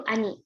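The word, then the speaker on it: 兄: Dengan familiarnya itu ani desu. 5 coretan saja ya, silakan latihan. Nah, ini ani ya.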